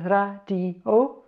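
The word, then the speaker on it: 라디오: So we have got here a R and an A, put the vowels over this side. Then we've got a D and an E. And finally, I need to explain, if a syllable starts with a vowel, it needs to have this silent holder in front of it. So this is a silent holder for the vowel O. So putting it together, it says radio.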